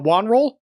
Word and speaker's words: WonRull: don't know okay well it's it's pronounced uh Wan roll but you could just